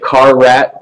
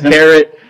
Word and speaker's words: Carrot: Some may pronounce it Car Rat, but that is not the way to pronounce it. It is Carrot.